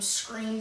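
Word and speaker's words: Skreem: On YouTube, I'm Scream. That is spelled S-K-R-E-E-M.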